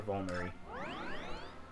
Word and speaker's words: vulnerary: Fine, I'll use a vulnerary. How do you pronounce that as a... Vulnerary. Oh, it is vulnerary.